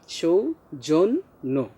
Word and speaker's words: সৌজন্য: তাহলে সৌজন্য উচ্চারণটা হবে সৌজন্য, নয়ের ওকার উচ্চারণ হবে।